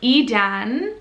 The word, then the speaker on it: Idan: in israel you would spell it with an i i d a n but e dan the way that we pronounce it e we would want